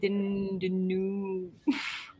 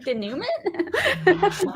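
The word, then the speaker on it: dénouement: Because it's a French word. It's like denouement or whatever, right?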